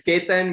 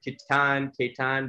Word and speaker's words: Ketan: name again so okay it's ketan but a lot of people call it kittan but that's okay and well is